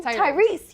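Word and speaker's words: Tyreese: Tyrese, yes.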